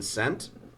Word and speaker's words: scent: Is the S or C silent in scent? Huh. The C is silent.